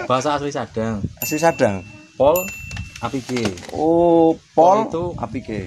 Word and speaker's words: Polapike: Oh, jadi bukan pola dan pike gitu ya, tapi pol apike gitu. Karena menyadur dari kalimat yang sering diucapkan orang sini.